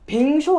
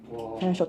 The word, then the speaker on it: vin chaud: 반 불어 발음으로 반인데 뱅쇼 아시죠? 뱅쇼. 뱅쇼가 그 원어민 발음이 밴쇼거든요. 밴쇼 따뜻한 와인이란 뜻이에요.